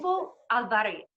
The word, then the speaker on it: Bufo alvarius: ceremonies for, and I'm going to try and pronounce it. This is going to be a laugh now. Is it Bufo Alvarius? Bufo Alvarius.